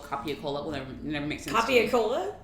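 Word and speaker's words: capicola: I think gabagool is spelled copia-cola. Well, never makes sense. Copia-cola? That's how you spell gabagool. Gabagool is really copia-cola, but it's the way people pronounce it.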